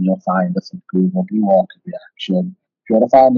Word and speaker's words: Blue Orchid Reaction: I'm going to try to pronounce it right because I know I pronounced it Orchard originally, but it's Blue Orchid Reaction.